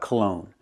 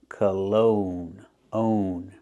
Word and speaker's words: cologne: and let's talk about Cologne pronunciation cologne put the stress on the second syllable make the long o sound like no and go colog own and the first syllable is not stress so it's a relaxed